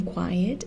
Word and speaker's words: quiet: example quiet quieter quietest the stress in quiet is on the final syllable quiet so we add ER